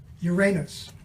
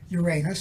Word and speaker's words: Uranus: and therefore they were became shy of saying Uranus and they changed the pronunciation to Uranus the same thing happened